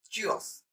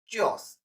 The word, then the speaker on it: Tschüss: So in German, by informal way, we say Tschüss. Tschüss.